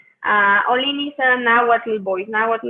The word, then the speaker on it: Ollin: It's called All In, which is spelled OLLIN. Olin is a Nahuatl voice.